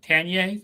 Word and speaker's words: Tanier: doesn't care. You can pronounce it any way you want. Tanier, that's fine.